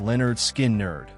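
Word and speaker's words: Lynyrd Skynyrd: Leonard Skinnard. Their debut album, Pronounced Leonard Skin Nerd, 1973, featuring Freeird and Simple Man, established Leonard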